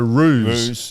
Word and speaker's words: ruse: I think that was just a uh a roost, do you reckon? I a roose. A ruse. Not a roost.